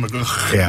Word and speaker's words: McGhie: I don't know how to pronounce his second name, so It's a typical Scottish surname. it sounds like a clue in your throat. Anyway, Colin McGhie.